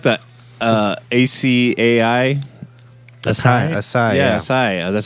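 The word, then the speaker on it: açaí: I thought it was a kai.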